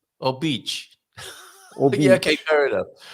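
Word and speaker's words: Óbidos: Well, Obidos. But no, Obic. Obic.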